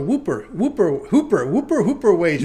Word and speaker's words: Whooper Wagers: It's spelled Whooper Wagers.